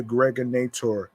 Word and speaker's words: Gregonator: I'm your man, aka the Gregonator. Rhymes with now or later.